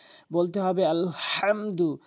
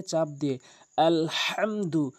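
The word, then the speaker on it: الحمد: বলতে হবে আলহামদু, হাটি হলকের মাঝখান থেকে ভর দিয়ে চাপ দিয়ে আলহামদু আলহামদু এভাবে আমরা উচ্চারণ করব।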